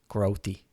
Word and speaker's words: Grotti: So Joe Grotti told me it's pronounced Grotti.